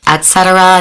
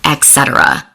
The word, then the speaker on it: et cetera: It's pronounced et cetera, not etc.